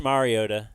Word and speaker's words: Mariota: telling you everybody's great he's kept saying uh Mariota which it's not a big deal but it is pronounced Mariota and everybody else gets it right so um